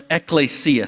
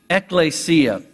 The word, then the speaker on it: ekklesia: The Greek word for church is a word we could pronounce ekklesia. Say that word with me, ekklesia. It comes from two Greek words. The word ek, which is like a preposition, out, means out. And klesia is a form of the word kaleo, which means to call.